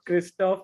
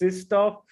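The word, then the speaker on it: Krzysztof: learn about his name it's not kristoff it's sistoff uh it's not uh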